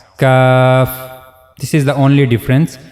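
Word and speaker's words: ك: Just one difference here that cough we are making the bold sound. While reading this letter cough and while reading this letter we are making a light sound cuff.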